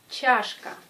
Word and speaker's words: чашка: Чашка. Чашка. Prononcez che comme dans l'alphabet. Et la lettre che a une influence sur la lettre A qui devient plus proche de ya.